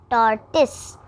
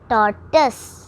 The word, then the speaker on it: tortoise: Wrong pronunciation, tortoise. Correct pronunciation is tortoise.